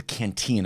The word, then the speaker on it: Cantillon: handing out bailouts, we're creating what's called the Cantillon effect. It's spelled Cantillon.